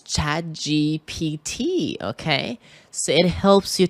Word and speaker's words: ChatGPT: The stress in GPT is in the first syllable, G.